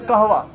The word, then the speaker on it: कहवा: इसकी actual pronunciation जो है दैट इज कहवा, कश्मीरी कहवा।